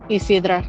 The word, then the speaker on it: Isidra: Isidra, is that how you pronounce it? Isidra, yeah.